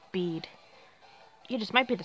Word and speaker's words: Bede: in the name is silent until somebody properly pronounced it and like oh it's bead you just might be the strongest champion and